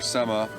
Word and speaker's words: sema: But tobacco, or sema, is how you say it in Ojibwe, is used as an offering and giving thanks.